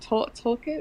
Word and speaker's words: Tolkien: Is it Tolkien? Is that how you say it? Tolkien. Okay. Yeah. Tolkien.